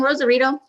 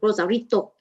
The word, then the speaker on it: Rosarito: isn't that one in rosarito oh sorry i'm going to say it correctly rosarito i thought i read